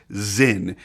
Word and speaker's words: Sinn: And for those curious, yes, the proper pronunciation of the brand is Sinn, named after the founder, Helmut Sinn, a pilot and flight instructor who wanted to make a flawless, reliable pilot watch.